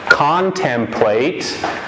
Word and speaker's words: contemplate: It has three syllables. Each syllable has a vowel. One vowel, short sound. Con. One vowel again, short sound, tem. And then last syllable, there are two vowels, even if the vowels are separate. Two vowels, one sound, it's long. So the first vowel is a long sound, A. So con, tem, late, A.